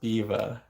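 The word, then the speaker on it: Biewer: She's called a Biva Terrier, and it's spelled Biwer, spelled Beaver, but it's pronounced Biva.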